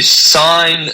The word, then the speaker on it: sign: of course when you sign something you've got a silent G in the word sign and when you remove